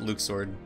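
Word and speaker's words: Luxord: no way i mean they pronounce it luke sword i'll always call him luck sword there's no way that's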